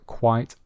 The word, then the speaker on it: quite: So listen carefully to the pronunciation. The restaurant is quite quiet on Mondays. The restaurant is quite quiet on Mondays. Can you hear the difference? Quite quiet.